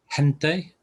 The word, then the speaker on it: gente: can be a sound as in hen so an example would be gente people um you've got